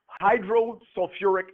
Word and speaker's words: hydrosulfuric: naming system but it's got a little extra syllable in it we don't say hydrulic what do you think we say yep hydrosulfuric acid yeah so again those